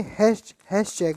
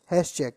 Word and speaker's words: Hatschek: अगर कोई आपसे क्वेश्चन पूछता है कि निडेरिया शब्द किसने दिया था, तो आप बोलोगे हैश चेक बोलते हैं। हैश चेक क्या बोलते हैं बेटा? हैश चेक। आप लिखना चाहो तो स्पेलिंग लिख लो, HATSCHEK।